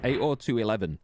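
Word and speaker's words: 802.11: of news then oh David says 80211 is typically how it's said by most people there you go would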